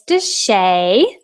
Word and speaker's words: Deshay: name is Deshay and you say it like this does Shea and I'll just share